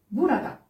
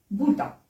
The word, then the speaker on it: burada: Mais vous pouvez entendre des personnes le prononcer burada. Donc, ne soyez pas surpris. Donc, ou bien on le prononce burada, ou bien burada.